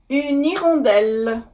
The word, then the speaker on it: une hirondelle: Now, if you listen carefully, une hirondelle, I did make liaison. Because after the H, the letter H, in the word hirondelle, there is no accent circonflexe on the letter E.